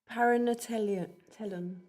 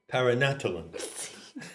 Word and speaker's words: paranatellon: Okay, so now we come to the great word which I invite Ginny to pronounce. Thanks. Paranatellon. Paranatellon.